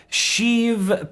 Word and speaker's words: Sheev: Sheev Palpatine. Thank you for subscribing. Or how is it pronounced, Rich? Sheev.